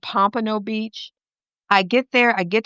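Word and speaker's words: Pompano Beach: I'm mispronouncing the city. I'm calling it Pomino and it's called Pompo Beach.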